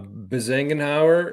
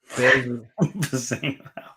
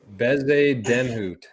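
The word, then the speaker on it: Bezuidenhout: And we got the pronunciation of Bezengenhauer is actually Bezedenhout. Bezedenhout.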